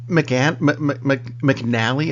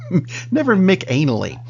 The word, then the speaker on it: McAnally: come across an actor whose name I'm really hoping is not pronounced the way it's spelled, because it's spelled Ray McAnally. And that's a very weird way to spell that. It is. McNally, I've heard, but never McAnally. Which, anyway.